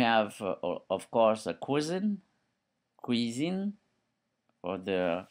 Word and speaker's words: cuisine: Then we have of course a cuisine cuisine for the correct pronunciation.